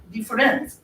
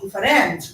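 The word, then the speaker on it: différance: But what he add to the structuralism is the play of difference, which is also, if we want to make verbally sound different, it is also sometimes we pronounce it as difference, D-I-F-F-E-R-A-N-C-E.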